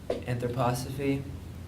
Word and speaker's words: anthroposophy: sort of revolves around anthroposophy they pronounce it correct and like anthropology except instead of Logie which means knowledge it's Sophia which means Divine Feminine so let's see it's